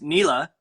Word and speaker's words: Nila: Uh, and you pronounced it perfectly. It's Nila.